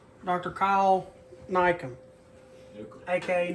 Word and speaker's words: Newcomb: Kyle Nycomb, a.k.a. Newcomb. It's Nycomb, but it's spelled Newcomb. He should change the name. He should change the spelling of his name, because it should be spelled N-I-E.